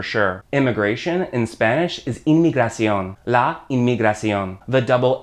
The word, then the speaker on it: inmigración: Immigration in Spanish is inmigración. La inmigración. The double M there becomes an NM. So from one sound in English, immigration, to two sounds in Spanish, inmigración.